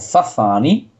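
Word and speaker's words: Sassani: de la raza sasani, él lo pronuncia como Zazani, que es un híbrido, es una raza híbrida que proviene del ADN humano.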